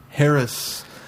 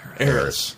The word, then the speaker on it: Harris: Is wealthy Harris Elena dos Santos all that she seems? Harris? He Harris? did. I wasn't going to call him out. Eris? Eris. Eris. The H is silent.